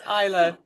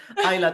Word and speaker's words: Isla: It's Isa.